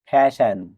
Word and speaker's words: fasten: ফ্যাশন FASTEN ফ্যাশন অর্থ বেঁধে রাখা। এখানে এস লেটারের পরে টি থাকার কারণেই টি লেটারটি সাইলেন্ট আছে।